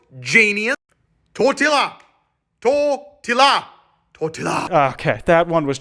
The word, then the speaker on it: tortilla: pancakes get bitches bro can't even pronounce tortillas because there's two elves genius tortilla tortilla okay that one